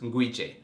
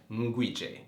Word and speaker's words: Nguije: So, my last name is pronounced Nguije. Nguije. The N is silent, it's Nguije.